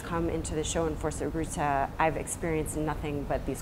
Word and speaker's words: Fuerza Bruta: FUERZA BRUTA, am I saying it right? Yes. Could you say it for us? FUERZA BRUTA.